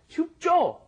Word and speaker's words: 춥죠: So The thing you need to be careful of is that when you're pronouncing jo, it's not just 춥죠. Yeah, 춥죠. Doesn't really work that way. Normally when Koreans say it, it's kind of a hard J, as we've explained before.